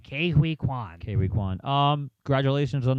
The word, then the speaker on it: Ke Huy Quan: But I also like Kwan Kwao. I butchered his name there. Ke Huy Quan.